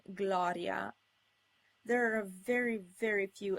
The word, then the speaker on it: gloria: Also, G is occasionally followed by an L without an I, and if there's no I, the G is pronounced G, as in gloria.